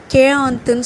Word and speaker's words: quarante: ஆனால் இது எழுதும்போது QUARANTEன்னு தான் எழுதணும். ஆனால் இதில் வந்து யூ வந்து சைலன்ஸ், ஆர் சைலன்ஸ், கடைசியாக இருக்கிற யூ சைலன்ஸ். அப்போது இதோட ப்ரொனவுன்சியேஷன் பாருங்கள் கேஆந்த். க்யூவை வந்து நம்ம கே மாதிரி ப்ரொனவுன்ஸ் பண்ணணும். அப்போது கேஆந்த் அப்படின்னு சொல்லணும்.